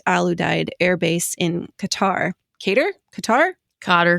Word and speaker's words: Qatar: was serving at alud Air Base in Qatar katar Qatar cter C thank you there it is cter I always think I know how to pronounce it and then I say it and